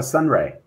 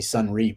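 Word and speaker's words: Sonrai: thing about uh sun it's actually sun reef by the way my apologies um but that's okay because no one else pronounces it that way either but it it is gaelic irish and uh it means data um actually so it's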